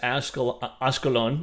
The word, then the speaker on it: Ashkelon: kind of give an idea of why is Ashkelon, it's pronounced, why is Ashkelon an area that's being bombarded?